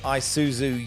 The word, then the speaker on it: Isuzu: hello welcome to the Isuzu you a league download that's first time I've pronounced that correctly first time people normally we're